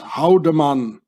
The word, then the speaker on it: Haldemann: name very very well in Swiss German you pronounce this houdaman Howen it means to hit or to strike how the man you know Nazi templates the Swiss Mercenaries but let's say haldiman remember that very very